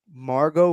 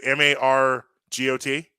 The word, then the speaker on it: Margot: caught my attention yesterday margot robbie who isn't that her name she's actress i may pronounce her name wrong no margo is it m-a-r-g-o-t yeah margot yeah i don't know